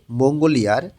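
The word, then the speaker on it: 몽골의: করি খালু বলতেছে মঙ্গোরে মঙ্গোলিয়ার খেওরুন শীতকাল অত্যেয় কেমন মঙ্গোরে মঙ্গোলিয়ার উই এর অর্থ হচ্ছে র বা এর উইটা যখন পার্টিকেলে শব্দের শেষে বসে তখন এ উচ্চারণ হয় উচ্চারণটা হবে এখানে মঙ্গলে মঙ্গোলিয়ার খেয়রুন শীতকাল অত্যেয়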